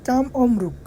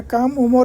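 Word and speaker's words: كم عمرك: ইউ ডু ফর হচ্ছে কাম অমরুক তোমার বয়স কত বলবেন না কাম ওমর ইন্তে ওইটা হচ্ছে ভুল কাম অমরুক আইন উচ্চারণটা আইনের মত করবেন তাহলে সঠিক উচ্চারণ হবে কাম অমরুক তোমার বয়স কত ইংলিশ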